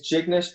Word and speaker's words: Jignesh: because your first name is very hard to pronounce it's great it my name is chick nish my friends even call me or